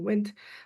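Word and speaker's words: WNT: who are low risk it's called wind d n we pronounce it wind we have medior risk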